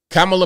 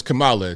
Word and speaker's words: Kamala: He was having an argument with her on CNN about how to properly pronounce Kamala Harris's name. They make a big deal out of that. Kamala versus Kamala.